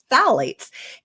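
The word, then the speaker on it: phthalates: in Plastics is called phalates which is spelled with a silent P so don't ask me to spell it right now but Fates and those are what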